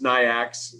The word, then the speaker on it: NAICS: you can even do the way i pronounce it is nyx so it and that